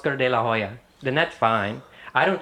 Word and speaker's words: de la Hoya: I don't think I don't think Oscar de la Hoya expects anyone to say you don't pronounce the H. In Spanish there is no H.